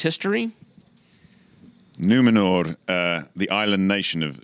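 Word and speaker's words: Númenor: island kingdom of numenor well pronounced r on the end numenor numenor i don't want glenn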